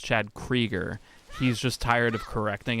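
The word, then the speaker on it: Chad Kroeger: I always think about that fucking interview with Chad Krieger, which, by the way, if you didn't know, his name, I guess, is pronounced Chad Krieger.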